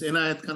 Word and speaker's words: Enayat Khan: And there was a style that at end of the record, they used to pronounce their name. I mean, it's Enayat Khan of Gauripur, and so which is it.